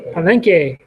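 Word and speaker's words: Palenque: How do you say it? Palenke.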